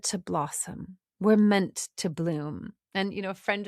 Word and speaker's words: Blum: You know, maybe maybe a lot of people think it's Blum because it's b l u m, but it's it's pronounced Bloom.